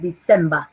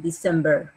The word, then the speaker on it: December: de la pronunciación era, la pronunciación que yo les hago es la británica, donde el sonido ER final lo acortan, por eso es December, por ejemplo. Pero los americanos lo exageran, December.